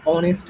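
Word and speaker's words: honest: তারপরে H silent হলে, যেমন হচ্ছে আমরা যদি এইচ যদি উচ্চারণ করি এখানে, অ্যান অনেস্ট ম্যান, হ্যাঁ?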